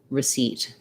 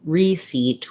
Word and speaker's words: receipt: like take a seat to practice this start on your stressed syllable seat and then add your unstressed syllable seat receipt that's going to help you get the rhythm right and help you avoid saying reseat which is not correct we don't have a